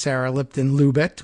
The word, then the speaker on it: Sarah Lipton-Lubet: And she tells us what her name is, and it's Sarah Lipton-Lubet with a T on the end, pronounced.